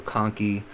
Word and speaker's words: conchae: See, Virgil for vomer, C for conchae. I know it looks like conchae, but usually the CH is pronounced as a K.